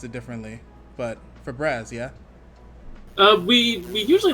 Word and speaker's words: Fabraz: know some people might pronounce it differently but for braz yeah uh we we usually let just people pronounce it as like well i've heard for braz we usually say fabras oh fabrez okay yeah but uh yeah awesome